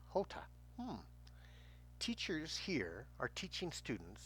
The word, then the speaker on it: jota: common error jam ham in Spanish the letter J sounds like the letter H in English it is called Jota and pronounced Jota teachers here are teaching